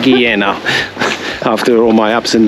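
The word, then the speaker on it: Guillena: Okay, so we've finally made it to Gaena, Giena Giena. I think I think we're going to settle on that pronunciation, Giena.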